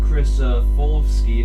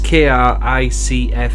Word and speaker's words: Kricfalusi: He provides the voice of Stimpy, and John Kricofalski, if I'm pronouncing his name right. That's a funny one to spell, isn't it? Yes. Kricfalusi.